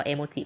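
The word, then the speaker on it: emoji: เอโมจิ นะ คะ เพ อ่าน ว่า เอโมจิ เพราะ ว่า มัน เป็น ภาษา ญี่ปุ่น นะ เอะ แปล ว่า รูป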